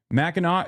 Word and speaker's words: Mackinac: Mackinac is how it's pronounced.